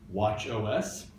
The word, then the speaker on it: watchOS: By the same token, their new OS for the Apple Watch, instead of calling this Watch OS, we call it Watchos. It rhymes with nachos. We got tacos and nachos.